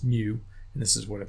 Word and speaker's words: mu: of having X bar we have it it's pronounced mu and this is what it looks like and